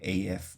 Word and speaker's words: af: But then if you say, if you use the word a, so af is pronounced a, just like we had with slapper a.